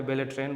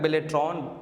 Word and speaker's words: Beltron: कोई बेलेट्रॉन बोलता है, कोई बेटन बोलता है। है ना कि बोल है ना अलग-अलग बेलेट्रॉन बेलेट्रॉन ऐसे इसी शब्द का उच्चारण होता है।